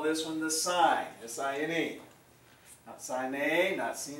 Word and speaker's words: sine: call this one the sign SI any sign a Nazi knee whatever but just sign there's pronounce it just like you would SI g in so the side of